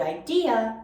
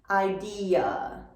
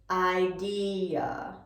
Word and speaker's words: idea: a vowel sound but the common error in or with the word idea is not adding the final vowel sound so we need to hear that final uh at the end idea idea idea if you just